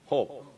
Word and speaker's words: Job: hope. 스페니시 호흡이에요. J를 H로 발음하거든. hope. 우린 job.